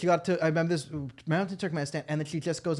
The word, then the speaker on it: Turkmenistan: a over zealous douchebag she couldn't pronounce Turkmenistan properly cute it didn't even end in standard as I took him ISTA took at least and it's like no that's Turkmenistan I see good professor professor couldn't say Turkmenistan you're over pronouncing I was in the mountains of túcume stew talking to it's like